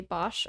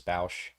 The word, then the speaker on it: Boushh: Do you say Bosch or Boushh? I always said Bosch. I believe correct pronunciation is Boushh.